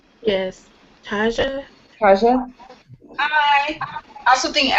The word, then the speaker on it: Taja: Taja, pronounced like Taj Mahal.